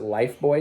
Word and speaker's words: Lifebuoy: in the US called Life Buoy soap, but they pronounce it life boy soap.